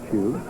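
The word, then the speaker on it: Hsu: H-S-U, pronounced Chu.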